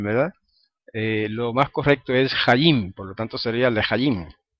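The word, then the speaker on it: חיים: Entonces, algunos a veces equivocadamente pronuncian la palabra hayim, la pronuncian como palabra llana y dicen hayim, como cuando dicen lehayim, cuando están brindando, dicen lehayim, ¿verdad? Lo más correcto es hayim, por lo tanto sería lehayim.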